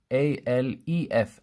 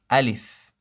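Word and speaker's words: ألف: wrong and you you find it spelled sometimes a lef Aleph this is wrong it should be Aleph Aleph not la la I live so this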